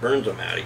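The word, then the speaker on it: Bernzomatic: So that is the, I think it's a Bernz-O-Matic. I think that's how you pronounce it, Bernz-O-Matic.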